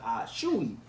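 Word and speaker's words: Achiuwa: fun they said just just think about sneezing ah shoot that's how you say his name um but uh kyle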